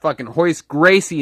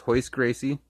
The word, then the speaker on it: Royce Gracie: come down to grappling his hoist Gracie in this and if you